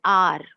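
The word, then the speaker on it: hour: वाले वर्ड आए हो मगर एच साइलेंट हो, और उसका प्रोनाउंसिएशन वॉवेल की तरह होता हो, जैसे एन आर, आर, तो यहाँ पे हमने एन लगाया।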